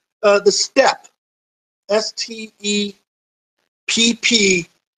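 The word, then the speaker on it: steppe: know the name it's it's pronounced step like oh it's five steps up to that door but it is sort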